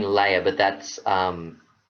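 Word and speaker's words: Löhe: clarify because you're saying layer but that's um l h e that's l o e or l o uml h e yeah so we um yeah laa is how they pronounce it in Australia I just what's interesting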